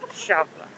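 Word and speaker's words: Eixample: Champla looks like in English the word example, but it's pronounced Champla.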